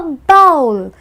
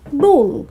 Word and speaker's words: bowl: Again, the W is responsible. Now, just because there's a W in the word, you need not overpronounce that one alphabet. You just have to make it subtle and call it bowl.